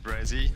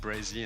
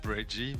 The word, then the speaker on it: Brezzy: Just Brezzy. Like SZ. I know it's hard like to pronounce because like it's half of my name. It's just like say Brezzy and not Breggy, but like I mean you can say whatever.